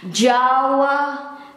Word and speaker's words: Jawa: And this is the old way to write it, and it is pronounced as Jawa, Jawa. In Indonesian, Jawa, Jawa, or in English, Java.